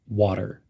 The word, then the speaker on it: water: hot in hot water notice how the end of water is pronounced water almost like w a d water in hot water he's